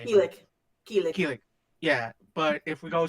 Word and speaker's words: Kilik: Keelik. Keelik.